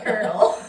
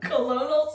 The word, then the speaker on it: colonel: here my sources said Colonial this is definitely Colonel she's saying it's Colonel eban or Walters so